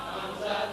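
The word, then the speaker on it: همزة: দুই এর মত দেখা যায় হামজা তার নাম হামজা তার নাম হামজা উচ্চারণ কেবুর হবে হামজা হলকের শুরু হবে শক্তভাবে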